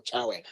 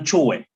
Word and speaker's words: Chowe: Is it Chowe or Chawe? The first one, Chowe.